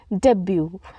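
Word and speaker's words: debut: हमारा next word है डेब्यू डेब्यू यहां पे टी जो है साइलेंट होता है डी ई बी यू टी डेब्यू का अर्थ होता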